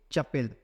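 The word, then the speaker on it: chapel: इसको बोलेंगे चपेल। क्या बोलेंगे? चपेल। इसको याद रखिएगा, प्रोनाउंसिएशन थोड़ा अलग है।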